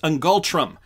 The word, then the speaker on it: ngultrum: the year 2023 so i just checked it's pronounced angultrum that's uh their currency so here's uh here's